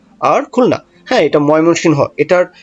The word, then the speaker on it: ময়মনসিংহ: ঢাকা, চট্টগ্রাম, সিলেট, বরিশাল, রংপুর, রাজশাহী, ময়মনসিংহ আর খুলনা। হ্যাঁ এটা ময়মনসিংহ। এটার যে প্রোনাউন্সিয়েশন এটা আমি কখনোই হ্যাঁ সুন্দর মতো উচ্চারণ করতে পারি না। হ্যাঁ সকলেই বলে ময়মনসিং। আমিও বলি ময়মনসিং।